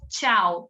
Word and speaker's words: tchau: Você escreveu tchau? Então, a gente lê tchau. É uma palavra difícil mesmo, Letícia. Um monte de consoante junta, mas Terminei. Tchau. Porque o T é mudo.